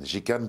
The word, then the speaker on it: Ji Kann: Jicanne pour dire jus de canne.